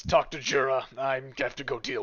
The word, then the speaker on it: Djura: And he gets you to this fortification, shoves you both inside, and says, "Talk to Jura.